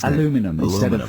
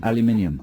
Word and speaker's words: aluminium: says his dad or aluminum aluminum well that's how the americans say aluminum aluminium yeah aluminum uh we were